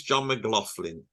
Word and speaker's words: John McLaughlin: I think it's John McLaughlin. It is. That's the proper pronunciation.